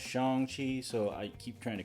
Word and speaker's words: Shang-Chi: accustomed to that and then i realized it's pronounced shang chi so i keep trying to correct myself but every so often i slip so yeah if you hear me calling him shang that's incorrect and i i missed it it's